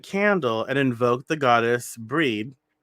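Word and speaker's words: Brigid: and invoke the goddess breed is that how you say it breed they say bridget but i'm pretty sure that that's not how you say that's not how you pronounce it uh she's a celtic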